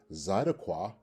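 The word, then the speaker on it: צְדָקָה: Or is it number 2, a feminine noun pronounced zidakwa?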